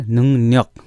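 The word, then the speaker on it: 능력: हामीले सिक्दै गर्दा पहिला बेसिक तल्लो लेभलमा सिक्दाखेरि हामीलाई यसको उच्चारण के भनिन्थ्यो भन्दाखेरि, नुङ्रक, नुङ्रक भन्थ्यो होइन। अब त्यसैले अबदेखि के भन्नु पऱ्यो भन्दाखेरि, नुङ्न्यक, नुङ्न्यक, नुङ्न्यक भनेको दक्षता, क्षमता।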